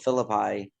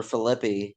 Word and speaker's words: Philippi: Well, it's kind of locally famous in West Virginia called the Battle of Philippi or Philippi, depending how you want to pronounce it.